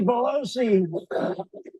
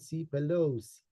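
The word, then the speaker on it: Pelosi: charge of security on January 6th it's Nancy bosi for the 100th time that is not Nancy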